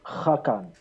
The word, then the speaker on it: Hakan: to um you know lloyd has this weird way of pronouncing my surname it's actually hakan you're going i